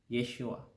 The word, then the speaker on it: Yeshua: ba ang tamang bigkas dito sar Mike ang bigkas nito ay Yeshua sa griego binibig itong Ye ang hirap bigkasin